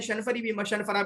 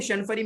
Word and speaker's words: الشنفرى: तो दौड़ने में तो दोनों माहिर हैं, ताबत शर्रा भी माहिर हैं, शनफरा भी माहिर हैं। देखिए शनफरी मेरी जुबान पे चढ़ा हुआ है, हालांकि राइट प्रोनाउंसिएशन शनफरा है, ठीक है।